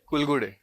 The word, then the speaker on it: Kulgude: Kulgude. Kalgude. What's your pronunciation? Kulgude.